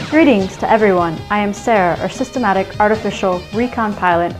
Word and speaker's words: Sarah: I am Sarah, or Systematic Artificial Recon Pilot Assistant Hybrid Intelligence. You may call me either Sarah or. S-A-R-A-H-I. Guess that last I is silent, huh?